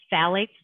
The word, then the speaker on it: phthalates: is spelled and thinks phthalates but it's spelled p h t h a l a t e f so phthalates like the ph is silent so fortunately they're starting